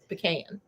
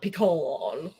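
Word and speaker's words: pecan: thing and you see I said it right pean not peon I say pean so I mean I just shorten the P yeah okay Ion if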